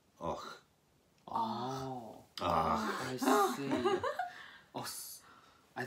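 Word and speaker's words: Avoch: It's spelt A-V-O-C-H. Mm. What do you think that is? Avoc. You would expect it to be Avoc. Yeah. Yeah. But local people who live there call it Och.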